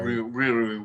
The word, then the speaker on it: Riri: Like, it's R-I. Riri Williams. Is it Riri?